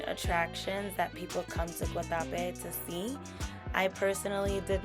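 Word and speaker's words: Guatapé: I was saying Guatape, but they pronounce it Guatape, so that's what I'm gonna do.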